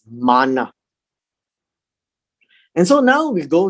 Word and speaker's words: manna: that's what it means not the american pronunciation of manna right it's manna and so now we